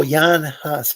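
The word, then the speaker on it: Jan Hus: I think I mean it's spelled Jan but like I think it was pronounced oh Yan hus probably and uh because because the J is typically pronounced as a y in a lot of languages and uh so would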